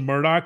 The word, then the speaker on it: Murdaugh: you change the name it's spelled murder but if you change it to murdoc and you change the